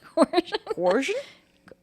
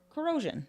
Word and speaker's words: corrosion: and coercion coer coercion corion cor how do you say that word corrosion corosion but I was like corion like he's like 10